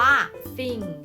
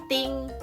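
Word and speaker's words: thing: เซอร์ IE คำ นี้ อ่าน ว่า ซิง ซิง จะ ไม่ ใช่ ting ding หรือ พี่ ทิง นะ คะ ซิ่ง ซิ่ง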